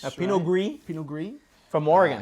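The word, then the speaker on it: Pinot Gris: an American wine a Pino grease a Pino GRE pen gree from Oregon how tasteless of me to pronounce the S I'm going to get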